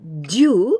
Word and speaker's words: 中: But when we pronounce this one, Jyuu instead of 中に and Jyuu without any particle, 夏休み中, it means from the first day of the summer holidays till the last day of the summer